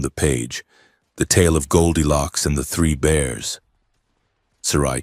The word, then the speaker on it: Goldilocks: Goldilocks. No, Sarai said, a tiny, almost invisible smile touching her pale lips. The human stress is on the first syllable. Goldilocks like the metal.